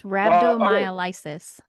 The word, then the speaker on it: rhabdomyolysis: It's rhabdomyolysis. Oh, thank you so much. I was trying to remember how to pronounce that.